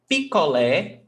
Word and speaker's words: picolé: Picolé is like a popsicle. Okay? So picolé. 3 syllables. Pi, co, lé. Lé is the stressed syllable.